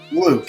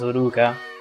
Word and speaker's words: Luke: or something like that Luke yeah oh Luke okay thank you yeah because in Japanese is pronounced as Luka so I thought okay it's luuka or something like that and well now